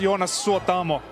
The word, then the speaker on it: Jonas Suotamo: It's pronounced Jonas Suotamo. Jonas Suotamo. It's a tongue twister.